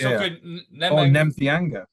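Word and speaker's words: Nemtheanga: He pronounces his real surname. Yeah, no, that's fine. All right, Nemthianga.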